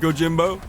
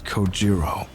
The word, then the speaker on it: Kojiro: The way he deliberately mispronounces my name really bothers me. It bothers me so much that the anger boiling inside me gives me the strength to open my mouth once more. It's Kojiro.